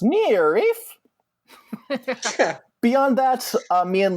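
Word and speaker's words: NIIRYF: found on twitter at n-i-i-r-y-f-pod and those are the letters for not if i beat you first they're pronounced near reef beyond that uh me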